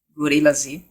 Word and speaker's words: Gorillaz: a arte bem parecia Gorilla Z. É uma, é uma banda, todo mundo pronuncia Gorillaz, porque o Z é meio mudo, é meio um S mesmo.